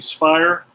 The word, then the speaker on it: Speier: the bottom of the 7th is gonna be spire the pitcher spot Murray's in there so then